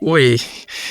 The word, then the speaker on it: WUI: And I know we're going to talk about Wounded, but before we do that, can we talk about what is Woo? And am I pronouncing that right? Like is it Woo or is it Wii?